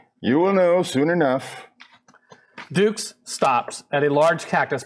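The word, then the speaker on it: Dux: You ever heard of the expression, put up your dukes? I was wondering if perhaps it's a nickname. I am a ranger. My name is spelled D-U-X.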